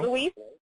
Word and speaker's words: Louis: Pronounced the French way.